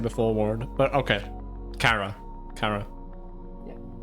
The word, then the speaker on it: Chara: It's pronounced Kara, because it's short for character.